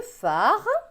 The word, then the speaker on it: phare: Ici, il est écrit que le phare, donc le phare c'est avec PH, PH se prononce feu, donc phare, et le sémaphore, PH se prononce feu, guide le marin.